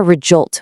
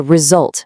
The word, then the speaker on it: result: If you want a good outcome at work, it's not a rejolt with a J. It's a result with a nice buzzing Z.